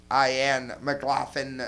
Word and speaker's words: McLaughlin: I've been L-A-U-G-H-I-N, McLaughlin, not Lynn. I've been saying it wrong for like a year.